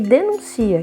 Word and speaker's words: denuncia: Embora elas estejam escritas de maneira igual, elas têm uma pronúncia diferente. Denúncia, substantivo, e denuncia, que é o verbo.